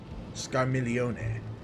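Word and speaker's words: Scarmiglione: Scarmilione. So the G is silent. Okay. Scarmilione. Which makes sense, that's Italian.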